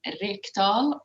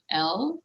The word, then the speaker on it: Rekdal: Rekdal, Rekdal, and even Swedes.